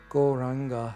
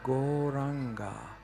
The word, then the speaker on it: Gauranga: And in this practice right now, we are going to chant the mantra Gauranga, which has 4 syllables. Go, Ra, Anga.